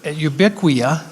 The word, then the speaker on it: Ubiquia: i'll let that go so ubiquia that's how you pronounce it it comes from the word ubiquitous which means everywhere we make products that